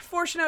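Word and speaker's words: Fourchenault: discovering the truth master foreno I hate this man's name yeah foro is how you pronounce that by the way makes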